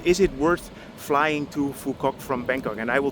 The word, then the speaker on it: Phu Quoc: We're back at the airport in Fukquok. And as you can hear, I learned how to say the name of the island properly. So the question is, is it worth flying to Fukok from Bangkok?